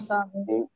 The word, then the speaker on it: savent: vous savez, Ils savent. elles savent, elles Savent. savent, क्योंकि n and t would not get pronounced।